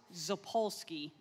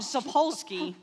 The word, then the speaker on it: Sapolsky: also was described by Robert zapolsky I was very nervous I was going to get that name wrong so Robert sapolsky he was making me